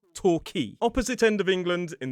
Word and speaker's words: Torquay: It looks like toquay with that qu u a y toqu but it is not. It is torqui.